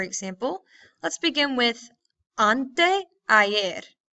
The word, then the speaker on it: ayer: So for example, let's begin with ante ayer. Say it with me. Ante ayer. So the Y is pronounced like two L's. Ante ayer. Muy bien? Or kind of like the Y actually.